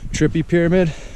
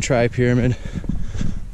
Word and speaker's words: Tripyramid: finally sounded them out i used to just call them trippy pyramid i still like trip pyramid better than try pyramid but i have a thing with mispronouncing mountains apparently here's a random thought